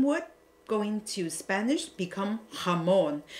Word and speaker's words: jamón: And then the Spanish will become the same word, going to Spanish, become jamón, because the Spanish will pronounce the J writing as the H sound.